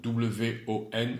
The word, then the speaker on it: won: Attention à la prononciation. W-O-N, won.